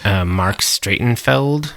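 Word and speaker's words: Marc Streitenfeld: Mark Stratenfeld.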